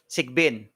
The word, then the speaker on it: Sigbin: Which, by the way, the demon, please correct me if I'm mispronouncing it. Sigbin? Sigbin.